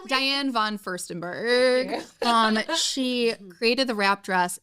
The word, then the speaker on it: Diane von Furstenberg: All of my friends, we will be the Diane Furstenberg. That is Can you that say it right? Is Diane von Furstenberg.